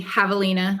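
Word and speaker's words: Javelina: amazing thing is that headquarters with a J so everything Havalina okay 100 spelled with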